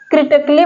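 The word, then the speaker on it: critically: है ये साइलेंट है क्रिटिकली बोला जा रहा है यहां पर देखिए आधा क बोला जा रहा है अगर पूरा क होता तब ए का ए का ए साउंड देता ए का साउंड होता लेकिन यहां पर आधा का है इसलिए ए का साउंड नहीं दे रहा बिकॉज यहां पर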